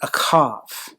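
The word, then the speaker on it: אהב: relationships is the word akav h is pronounced with the ch in the old ancient language of the hebrews it's a friendship it's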